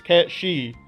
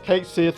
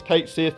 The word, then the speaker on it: Cait Sith: insisted this character was actually supposed to be pronounced as Cat-Shi, or Cat-Shi, since that's closer to how it's pronounced in Japanese. That all turned out to be incorrect though, since his name is pronounced as Cait Sith in Final Fantasy VII Rebirth, and Square Enix